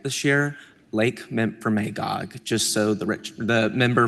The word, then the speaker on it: Memphremagog: And I also just want to say, I took a lot of time to pronounce this right this year, Lake Memphremagog, just so the the member from Derby knows I learned I learned.